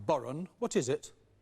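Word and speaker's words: bodhrán: two please number two andrew spelt b-h-o-d-r-a-n pronounced boron what is it it's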